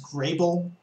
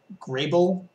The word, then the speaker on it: Grable: It's Grable. Grable. All right. I've heard it mispronounced a couple times. Not that I'm sensitive about that sort of thing, but in case anyone out there is curious about how to pronounce it.